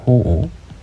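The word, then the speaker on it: 好惡: 호오. 아까 앞에서 봤었죠. 이때 오라고 읽어야 되고, 싫어하다, 좋아하고 싫어하다, 혹은 호불호 이렇게 표현할 수도 있겠고요.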